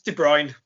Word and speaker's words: De Bruyne: It's De Bruyne.